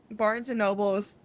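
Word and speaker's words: Barnes & Noble: You kept saying Barnes and Nobles yesterday, and I was like, damn, am I wrong? Like, have I been saying it wrong this whole time? Girl, no. There is no L. Barnes and Noble.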